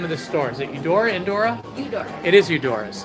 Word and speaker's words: Eudora's: Or Indora. Eudora, Indora? I forget how to say it. How do you say the name of the store? Is it Eudora, Indora?